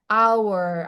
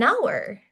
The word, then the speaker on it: hour: Karena cara bacanya adalah our atau dikenal sebagai silent age, Teman-teman. Jadi, H-nya enggak dibaca. Jadi, an hour gitu.